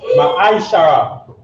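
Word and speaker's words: מעשר: Means tenth in Hebrew, and it's pronounced Ma'aishara.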